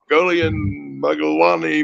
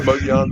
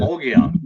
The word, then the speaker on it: Mogollon: It's the Mogollon Monster. We all know that. I'm just playing. Mogollon.